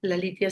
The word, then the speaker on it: Lalitya: La litia se escribe l a l.